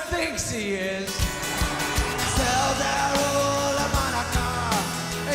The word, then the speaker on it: Hanukkah: Tell Darul Hanukkah, it's time to celebrate Hanukkah. It's not pronounced Chanukah. The C is silent in Hanukkah.